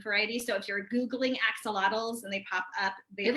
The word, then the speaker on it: axolotl: plant love it okay megan's asking what an axolotl is that's exactly how you spell it a-x-o-l-o-t-l and it's a salamander um so